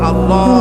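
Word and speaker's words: الله: আল্লাহ পাকের উচ্চারণটা হচ্ছে, আল্লাহ পাকের নামের উচ্চারণ হচ্ছে আল্লাহ। মুখটা একটু গোল হয়ে যাবে, বলেন আল্লাহ।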